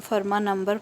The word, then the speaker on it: Fermat: रहे हैं फर्मा नंबर इसमें टी साइलेंट होता है इसको हम फर्मा नंबर प्रोनाउंस करते हैं नंबर्स ऑफ द फॉर्म